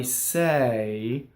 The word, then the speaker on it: se: So E in Italian is a non-phonetic vowel, so it can be pronounced two different ways. And in this case, it happens to be A, like hey is for horses, or I say, right?